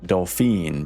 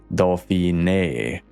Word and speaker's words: Dauphiné: But quite a few French people chimed in to let me know that my pronunciation is in fact all wrong. This special E here makes the pronunciation closer to Dauphiné, which yeah, as you